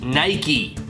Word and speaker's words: Nike: It is pronounced in 2 syllables, rhyming instead with words like crikey. The brand Nike is pronounced Nike, after the Greek goddess of victory in mythology.